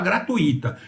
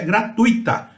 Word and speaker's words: gratuita: E eu ressalto, lá em São Paulo vocês vão falar gratuita. Nada de gratuita, a palavra, a pronúncia é gratuita.